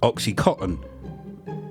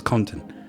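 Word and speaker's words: OxyContin: it to be called oxycotton because of the way Americans pronounce it they don't pronounce the N I've never heard an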